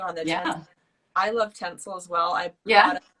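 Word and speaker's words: Tencel: little bit further on that yeah i love tinsel as well i've got a couple of products um it's spelt t-e-n-c-e-l yeah for anyone that's watching and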